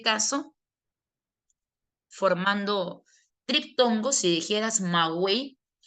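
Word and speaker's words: maguey: Porque la palabra magei no se dice mawey, sino que lo correcto debería ser pronunciar maguei.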